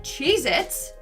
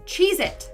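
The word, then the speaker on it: Cheez-It: we have cheit but apparently that tasty cheesec cracker is not called cheit it's Chez it either I've been saying it wrong my entire life or this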